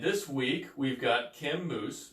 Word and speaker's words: Moos: And this week, we've got Kim Moos, which is pronounced, yes, like you said, what, the food and the hair care product, yes.